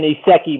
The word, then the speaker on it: isekai: It's like writing an isekai manga before isekai becomes cringe and everybody's doing isekai.